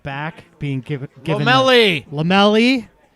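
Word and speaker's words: Lomelí: And I think we saw, 4-3-3, particularly Ronaldo Lomelai at right back being given Lomelli. It's on the pronunciation guide.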